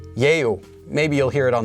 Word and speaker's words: 예요: And 예요 is actually pronounced as 에요, but it's supposed to be pronounced as 예요.